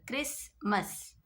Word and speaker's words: Christmas: In Christmas you can see S and T together. Christmas, Christmas, Christmas.